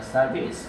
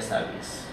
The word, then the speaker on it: service: am satisfied with their service. I am satisfied with their service. S-E-R-V-I-C-E. Service. Here also, R will keep omitted. Service. Okay. Notice my pronunciation. Service. The accent will go on I.